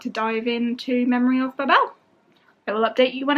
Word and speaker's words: Babel: babel this morning which i'm now learning is pronounced memory of babel it's babel not babel babel um i'm very